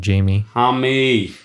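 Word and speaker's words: Jaime: Keegan Murray, Trey Murphy, Brandon Miller, Jami Jaquez, even though it's spelled Jamie. Jami.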